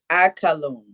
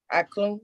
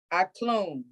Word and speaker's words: aklum: No, not aka. No, it's only 2 syllables in the command tense. It's only 2 syllables. How you pronounce it? Aklum. Okay, you put the A in front of the K, and you say the A and K together. That's 1 syllable, and then you got it. Yeah. So it's ak. And then now the KLUM is all pronounced as 1.